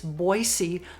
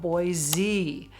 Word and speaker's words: Boise: It's Boy-see, not Boy-zee.